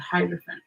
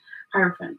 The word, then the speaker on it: hierophant: Taurus energy with the hydrophone okay hierophant I keep saying it wrong um and so this